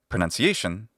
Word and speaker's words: pronunciation: And in the word pronunciation, it's just the letter U. None. Just like a nun, like a Catholic nun, none. And when I say the word pronunciation, those are the prescribed